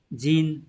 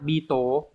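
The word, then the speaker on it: 人: ghép với từ chỉ người có rất nhiều cách đọc. Nin, jin, đấy, hay là Beetle vân vân. Ở đây chúng ta xét cái cách đọc là nin nhá các bạn nhá.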